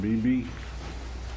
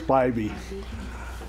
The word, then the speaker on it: Spivey: Marcy Burke, Charlene Beebe. Is that right? No, it's not. It's Spivey. I mispronounce it all the time.